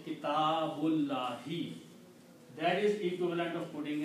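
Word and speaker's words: كتاب الله: But when you read together, you do not pronounce this alif. You say kitabullahi.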